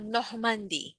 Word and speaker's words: Normandie: হ্যাঁ, La Normandie. মন্দি না, নরমান্দি, Normandie. Une raison, region, région, école. একোলো। এখানে ওই উচ্চারণটা হবে ভাইয়া?